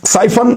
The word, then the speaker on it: Psiphon: साइफन fast and secure VPN, ये आप देख लें।